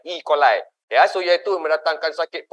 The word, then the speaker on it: E. coli: Tapi pronunciation dia English is coli, E. coli.